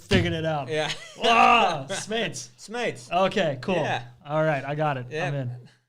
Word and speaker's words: Smeets: By the way, that's how you pronounce his last name. I just figured it out. Yeah. Wow, Smeets.